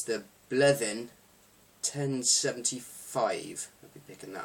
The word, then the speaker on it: Bleddyn: this maybe confuse you it says bled in on the bottle uh the Welsh are a bit odd and that actually is pronounced bleving so there you go um